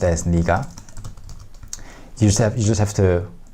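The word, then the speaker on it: 네가: said you said you would do it granted Nega is pronounced as Nica yourself you just have to memorize or remember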